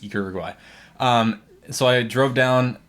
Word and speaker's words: Uruguay: Jealous and Uruguay, how they say it Uruguay, but it's Uruguay.